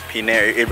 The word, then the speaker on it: Pinel: Pinel, I know it rhymes with Chanel, so Chanel, Pinel, Pinel Island, that's what it is.